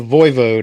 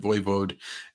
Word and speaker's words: voivode: I like the voivode. I had to look up how to pronounce that correctly. I guess that's like his title. Yeah. Yeah. I assumed it was voivod, but voivode is probably more accurate.